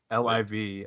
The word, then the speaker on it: LIV: tour is called what again how do you pronounce iv liv okay do they i'm assuming it's like uh